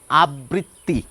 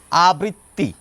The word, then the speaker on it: আবৃত্তি: Recur যদি শব্দের শেষে অথবা মাঝে থাকে, যার সঙ্গে যুক্ত থাকে, সেটি দুবার উচ্চারিত হয়। এটি বাংলা উচ্চারণের স্বাভাবিক রীতি। সেই রীতি মেনেই শিক্ষিত বাঙালি, সাধারণ বাঙালি শব্দটির উচ্চারণ করে থাকেন আবৃত্তি।